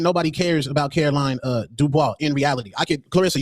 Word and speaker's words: Dubois: Caroline Dubois. She like Caroline Dubois fight. Wait, you said Dubois? It's Dubois.